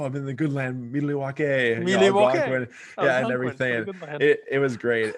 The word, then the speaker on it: Milwaukee: In fact, isn't it pronounced Milwaukee? Hey, I don't know. Isn't that Algonquin? It's pronounced Milwaukee for the good Algonquin for the good land.